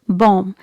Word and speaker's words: bomb: like musically musically okay next word is bomb it's not bomb it's bomb letter b is silent here another word is